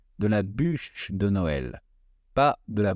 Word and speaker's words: bûche: la bûche de Noël attention à la prononciation si vous en demandez on dit bûche et non bouge bûche bouge Bou ça veut dire mouth en anglais donc ça pourrait porter à confusion donc on dit de la bûche de